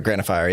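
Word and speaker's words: Granophyre: I don't know how you pronounce it. Is it Granophire? Granophire, yeah.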